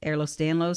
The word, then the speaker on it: Ehlers-Danlos: The arthritis is much higher in a condition, EDS, Ehlers-Danlos syndrome.